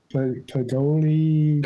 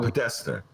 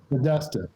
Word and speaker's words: Podesta: says you got to drop I forget the pronunciation of his name. The chief of staff, Hillary's chief of staff, Pagoli. Oh, Podesta. Podesta.